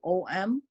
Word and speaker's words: Om: So when we say Om, we can extend the A and U, and then we can say 2/3 Ao and Ma 1/3. And then we can pretty much say the Ma as a hum, like you're vibrating that inside your mouth with your lips closed.